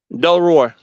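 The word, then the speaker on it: Delroy: Ray hey D Ray is it d Ray or D Roy cause somebody I'm saying your name right Del Roy okay I've been saying your name wrong bro I apologize my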